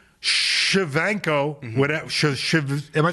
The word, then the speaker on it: Shevchenko: Shevchenko, whatever. Am I saying it right? I think you got it spot on. All right, Shevchenko, right?